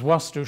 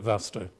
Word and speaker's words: Vastu: practical and you'll see I've put the double A in there which tells you how it's properly pronounced but you can call it V to it comes from a